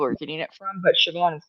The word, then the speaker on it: Siobhan: How dare you use an Irish name and you don't know how to pronounce it? I'm like Siobhan. It is It is. How do you How are you saying it? Siobhan.